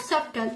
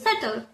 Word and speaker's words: subtle: That it's not subtle, it's subtle. It is not about debit, it's debt.